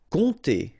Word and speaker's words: compter: Compter. Alright, so OM, really like a nasal here. On, and then this P is not pronounced.